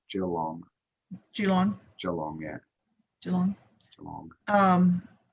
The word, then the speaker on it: Geelong: We're strange in Australia. We pronounce that Geelong.